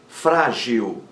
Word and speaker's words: frágil: Frágil. Frágil leva acento gráfico porque é uma palavra paroxítona terminada em L.